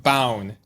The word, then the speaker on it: Bown: Now, joining me today, I have Will I always pronounced this wrong, Bound? Correct. That's correct. Like Bound without the D. Okay. Will Bound, thank you.